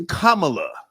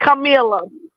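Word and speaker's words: Kamala: It's Kamla. That's the correct pronunciation. Kamla. No, it's Camila.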